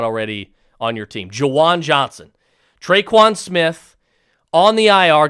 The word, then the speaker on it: Juwan Johnson: converted wide receiver to tight end javon uh jawan if i could it might be even better if i could pronounce his name jajuan johnson mark he's the